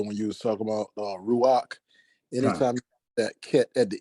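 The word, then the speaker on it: רוח: I just have one statement to make in regards to when you was talking about Ruach.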